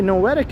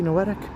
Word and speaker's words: Noetic: I'm scared already, Noetic. Hopefully I'm pronouncing it right. Is it Noetic or is it Noetic? I know noetic rhymes with poetic, so I just kind of went with that.